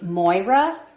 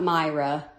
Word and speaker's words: Moira: It's Moira, and Scott, I think you said it wrong too. It's not Myra, Moira.